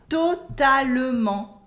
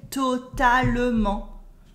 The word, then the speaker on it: totalement: We also have totalement for totally. We never say it like that. We never say totalement. We cut the E and say totalement.